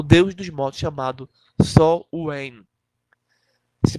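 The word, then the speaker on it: Samhain: Se pronuncia dessa forma, mas se escreve S-A-M-H-I-N. Quem quiser pesquisar, se escreve assim: S-A-M-H-A-I-N. Mas se pronuncia como Sol-Wen.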